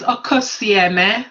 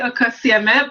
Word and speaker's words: Okosieme: So the pronunciation is Okosieme. So Okosieme, but thank you so much for having me.